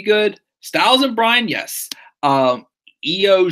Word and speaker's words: Io: Io Shirai, Io just like Ronnie James Dio, and Sherry ending in I.